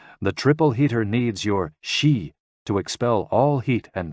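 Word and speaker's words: 嘻: with the spleen and X I pronounced like she which connects the whole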